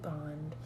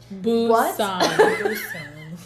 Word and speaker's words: Busan: Train to Bond. Busan. B-U-S-A-n. I'm pretty What? sure we're saying it right because Lindsay and I did Google Translate to make sure we were saying the word right, so I'm pretty Yeah.